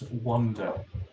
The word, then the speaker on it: wander: Let's wander around the city. Yeah. Now notice that we pronounce it the same way as wonder, as in wonderful.